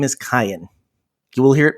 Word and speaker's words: Kayan: messages start coming in his name is cayenne but no two people seem to pronounce it the same and we're all okay